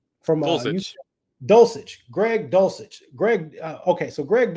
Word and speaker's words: Dulcich: backup for you, and you can help me pronounce this, Anthony, if I'm wrong. My man Greg, is it Deluch? From Dulcich, Greg Dulcich.